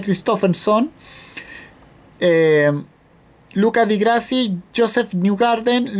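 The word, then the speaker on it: Kristoffersson: En el grupo 2, Johan Christofferson, así se pronuncia, Christofferson, Luca Di Grassi, Joseph Newgarden, Loic Duval o Helio Castroneves, cualquiera de esos dos.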